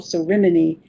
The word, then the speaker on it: ceremony: After they after he died, they held a special ceremony. And as the teacher, you can say, "Listen to where the stress is." Ceremony. Ceremony. The stress is on the first syllable, and it's a red word.